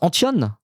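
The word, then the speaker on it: Antton: Ça se prononce Antion et pas Anton.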